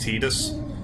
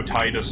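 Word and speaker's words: Tidus: like I know it is supposed to be pronounced tedious but I just I just like how Titus sounds better more than anything even if it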